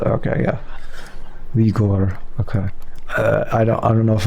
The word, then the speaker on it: Uyghur: Ah, I see. Uyghur. It's gur, not gur. There we go. Gur. That's definitely very different from how English speakers often pronounce it. Okay, yeah. Uyghur.